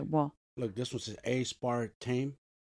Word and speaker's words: aspartame: a save okay well look this was an a-spart team right aspartame aspartame that's what I just said a-s-s-p-r-t-a-y-m that's aspartame